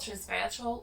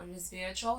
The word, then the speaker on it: resveratrol: It is about resveratrol or resveratrol, you can pronounce it however you wish to, but this is